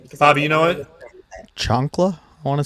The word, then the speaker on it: chancla: Chancla, I want to say. It's something like that. I was gonna say chunka, but I know it's not chunka. I can spell it, but I'm not.